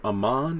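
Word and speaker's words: Aman: I believe Amon is the proper way to say the young man's name.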